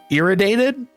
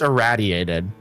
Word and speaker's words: irraddyated: People will say my name like uh irritated. I've heard irritated. I've heard my name said in various different ways, but it's idiated.